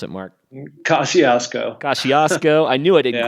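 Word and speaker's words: Kosciuszko: there's Elbrus which is in Russia we have Cossack usko it's the way I say it how do you pronounce it mark Kosciusko Kosciusko I knew I didn't quite have it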